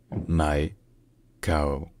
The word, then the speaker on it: Maicao: in Spanish the name of the city is pronounced MAA my cow my C my cow all right if you